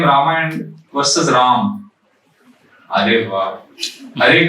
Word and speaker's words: Rama: Ideally, Rama is the name, pronunciation, but Bengali chant Ramo.